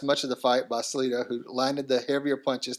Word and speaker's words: Salido: How do you say that last name? Veteran Orlando Salido. Salido. I was starting to say Salado. Salido.